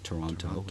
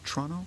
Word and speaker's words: Toronto: I tell people I'm at I'm in Toronto. Yeah, that's not bad. You don't say that last T.